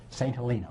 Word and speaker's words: St. Helena: St. Helena, we pronounce it.